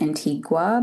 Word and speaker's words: Antigua: So I always like to say Antigua and Barbuda because sometimes people pronounce it as Antigua, but that is not the island. Antigua is in Guatemala. So the island is Antigua.